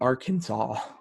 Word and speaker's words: Arkansas: a um you know the last a was to be pronounced with the italian sound of ah and then the final s was to be silent and the accent was to be on the first and last sil like they detailed all of this out so you know which eventually led to the pronunciation of arkansas this law was passed